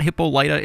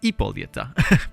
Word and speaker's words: Hippolyta: wrong because it's not hippolyta it's not hippolyta it's ipolita because she is greek so let's go ahead